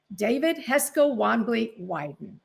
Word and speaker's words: David Heska Wanbli Weiden: And I hope I pronounce things almost correctly. You did it perfectly.